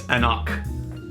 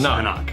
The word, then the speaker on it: anCnoc: And he didn't sheathe it properly, so I know this is an anCnoc. It's not true. It's anCnoc. That's how you pronounce this. anCnoc.